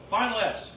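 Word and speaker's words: Ephphatha: at this last one he said he spoke final s he spoke which is tough to pronounce but it's Aramaic for be open everyone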